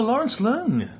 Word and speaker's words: Lawrence Leung: Oh, Lawrence Leung. Yeah, is that the correct pronunciation?